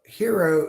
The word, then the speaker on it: gyro: gyro hero wrong well hero is the Greek pronunciation of Gyro referring to the kind of sandwich that they make whereas